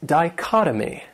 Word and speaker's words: dichotomy: Another great noun is dichotomy. This word has four syllables, and the stress is on that second syllable, dichotomy. And that third syllable, it has that schwa, that sound, dichotomy.